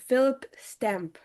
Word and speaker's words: Phillip Stamp: So, just to make sure, your name is pronounced Phillip Stamp, right?